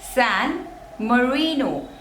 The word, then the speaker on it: San Marino: Russia Russia Russia Russia next is San Marino San Marino in Mourinho there are three slavers and the